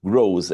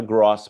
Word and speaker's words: gross: Lucro bruto, a pronúncia dos dois termos aqui já vi gente errando bastante. Bruto grows. Grows. S O é mais fechado, não é gross profit.